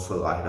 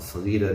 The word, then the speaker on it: Salida: Near Modesto, north of Modesto, a town called Salida. Of course, you'd pronounce it Salida in Spanish, but of course, we all call it Salida.